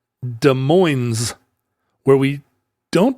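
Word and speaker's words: Des Moines: town here nearby called de Moes where we don't pronounce the S on the days but we do pronounce the S at the end in Iowa they don't pronounce either s they say de and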